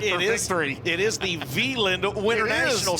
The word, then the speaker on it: Wieland: It is the Wieland Winternationals. Starts with a W, pronounced with a V, as we've got Garrett Alberson out front in this one.